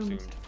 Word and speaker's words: plumed: How do you call it? Plumed. Yeah, I say that's how I say them. Plumed archers.